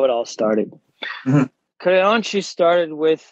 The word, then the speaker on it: Creonte: I guess the English term would be traitor, but in the Brazilian Jiu-Jitsu culture, we have a term called Creonte. Creonte. I'm awful with the pronunciation. Creonte.